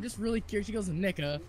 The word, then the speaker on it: Nica: full word Veronica, and her name is N-I-C-A, and she looked me dead in the eyes and said, Nika.